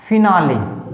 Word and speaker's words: finale: तो कैसे, देखिए वर्ड एक बार, फिनाले, FINALE, ई आया है और उच्चारण भी ई का हुआ है, ई की मात्रा जोड़ी गई है, ठीक है।